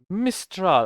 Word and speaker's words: Mistral: And the third one was Mistral. I'm hope I pronounce this correctly.